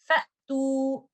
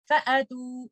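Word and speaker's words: فَأْتُوا: So the proper pronunciation would be Fa'tu. And the mistakes that we can make is like this. Fa'tu or Fa'atu. Both of them are wrong. Do not do qalqala or do not recite it as an alif mad. The proper pronunciation is Fa'tu.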